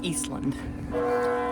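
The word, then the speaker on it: Ísland: It's actually pronounced Eastland.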